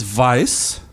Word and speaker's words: Weiss: next to do so your last name is vise I pronounce it Weiss but yes and it's German idiots and in Germany